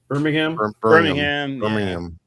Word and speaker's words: Birmingham: Birmingham. Birmingham. Don't pronounce it Birmingham. Birmingham. It's not ham.